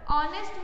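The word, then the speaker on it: honest: his father is not dash ऑनेस्ट person, ऑनेस्ट में एच जो होता है वो साइलेंट होता है, और एच के बाद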